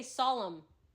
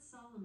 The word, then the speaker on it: solemn: The word solemn is pronounced as solemn with the stress on the first syllable.